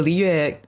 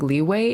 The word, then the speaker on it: Liyue: the Liyue map names are really hard to say usually, right?